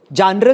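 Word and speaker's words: genre: सी जर की पिक्चर और जर भी नहीं बोलते प्रॉपर्ली फ्रेंच प्रोनाउंस करना है तो प्रॉपर्ली करो जान र क्यों बोलते हो फिर आप उसको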